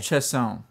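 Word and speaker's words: Chassagne: I believe it's just Regine Chesney. Chesson. Chesson. Because Regine Chesson. Because you know how the French like to add a whole bunch of Yeah. letters at the end of a word that aren't pronounced.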